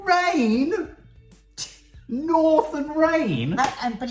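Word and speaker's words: Reign: Rain? North and Rain? But it's spelled R-E-I-G-N.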